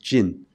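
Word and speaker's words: 진: It called itself the character at the bottom, which is pronounced Jin in Korean.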